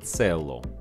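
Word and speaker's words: цѣло: recreated Indo-European root "kailo", from which also the Old Slavic form "celo" was derived (pronounced "tselo"). The change of "k" to "ts" was generally characteristic of Indo-European and later Latin roots during their migration to Slavic languages.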